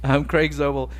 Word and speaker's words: Craig Zobel: Craig Zobel, and written by Nick Cuss and Damon Lindelof of obviously Lost fame.